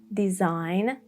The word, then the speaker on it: design: When there is G N like in a line, design and rain.